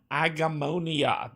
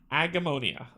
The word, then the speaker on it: Agemonia: Today we are getting into Agemonia. That is how you pronounce it. Took me a minute, but I got there, right? Even a blind squirrel eventually finds a nut. So, Agemonia.